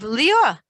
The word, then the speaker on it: Leah: He was pronouncing it in the Sephardic, very old-fashioned way of Lior, which is Leah.